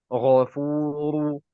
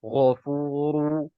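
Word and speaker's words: غفور: Nah, bagaimana membaca ghafuru? Nah, ini anak pribadi itu sedikit ditarik. Ya, sedikit tarik supaya apa? Supaya pengucapan huruf tersebut itu sempurna. Ya, kalau kita mengucapkan contohnya ghafuru, ghafuru. Nah, ini tidak ditarik bibirnya, maka ana tidak mengambil pendapat yang itu.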